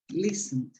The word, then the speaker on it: listen: live listen listen lovely is not pronounced listening listen no sorry eliminate the tea listen that's uh listen yeah